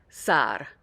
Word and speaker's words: Sarr: So you want a long A sound in the middle, and then there's a little tongue flip at the end with that R. Sarr. So not Sar, but Sarr.